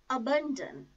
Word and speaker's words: abandon: or the last syllable let us start with the world abandon it has three syllables four syllable is a which is a low feeble sound she was some burn second syllable and damn last syllable the stress is on second syllable the stress is on second syllable burn abandon abolish abolish bomb ich